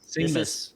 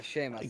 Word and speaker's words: Seamus: Seamless. It is. am I pronouncing that? It's Seamus, right? Yeah, Seamus.